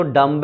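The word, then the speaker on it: dumb: डम्ब में जो बी होता है वो साइलेंट होता है, डम होता है डम। तो आज तक हम डम्ब थे कि हम डम्ब को डम बोल रहे थे। पता होना चाहिए तुम्हें, इंग्लिश में जो वर्ड है ये डम्ब, इसको प्रोनाउंस हम डम करते हैं।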